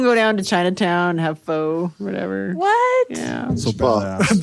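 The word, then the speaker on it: phở: We'd skip school and go down to Chinatown, have pho, whatever.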